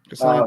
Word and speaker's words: Kassan: Kassan, is it Kassan? Is that how you say it? Kassan, yeah.